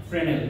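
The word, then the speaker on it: Fresnel: এই ডিফ্রাকশন দুই প্রকারের একটা হলো ফ্রেনেল উচ্চারণ ফ্রেনেল কিন্তু বানান ফ্রেঞ্জেল আর আরেকটা হলো ফ্রম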